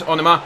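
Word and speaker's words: Onomah: Thank you to all of you that told me I was pronouncing it wrong and told me how to say it. Here is Onoma.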